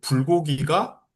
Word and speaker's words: 불고기: 물 받침에 리을이 있고 그다음에 또 결합하는 초성이 기억이기 때문에 물고기 경음으로 나고 불고기가 여기는 경험이 아닌 소리로 날이 아무런 이유는 없어요. 그런데 불고기 물 불고기는 고기고 물고기는 공기입니다.